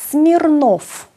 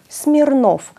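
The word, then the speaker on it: Смирнов: ραμνα ένα άλλο επώνυμο σμιρνόφ ένα πολύ διαδεδομένο ρώσικο επώνυμο σμιρνόφ στο τέλος επίσης ακούμε ένα φ σμιρνόφ εδώ το ο τονίζεται και το ακούμε καθαρά ως ο σμιρνόφ και σε όποιο άλλο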